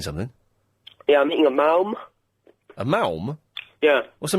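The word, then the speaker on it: Maoam: Yeah, I'm eating a malm.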